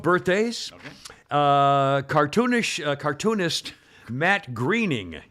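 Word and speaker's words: Groening: I like The Simpsons Matt Greening I call it it's Matt it looks like groaning g-r-o-e yeah but yeah and what's the pronunciation guide yeah if you you do it'll tell you the one I read said Greening spelled it g-r-e yeah but I would go either way that's why it's like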